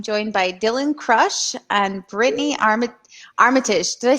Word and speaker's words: Britaini Armitage: I am joined by Dylann Crush and Brittany Armitage.